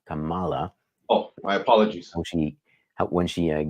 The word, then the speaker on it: Kamala: We do have a little note from Jim here to pronounce Kamala and not Kamala.